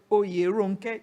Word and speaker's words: Oyèrónké: Because Oyèrónké, you pronounce the whole syllable. The French won't do that. They'll leave out the E.